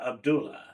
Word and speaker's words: Abdullah: senior editor we're thrilled to welcome Dr Melinda Abdullah Molina Molina Abdula is am I pronouncing your last name abdulla correctly yes Molina